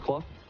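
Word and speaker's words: Clough: the number three spot clo c-l-o-u-g-h although it's pronounced club fupani fifth malcolm is six blekka is seventh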